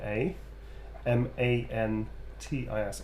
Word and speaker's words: amantis: so a e t p e r n a m a n t i s amantis uh which is L us forever until